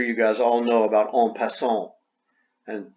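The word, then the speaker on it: en passant: guys all know about on pason and it's french that's the correct pronunciation in english it would be in passant well we have an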